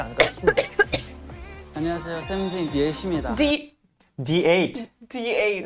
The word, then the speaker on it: THE8: in Korean, there's no TH sound. Most languages don't have a TH sound. So it's pronounced T. And I that's can what only became think of Yuki. when D8.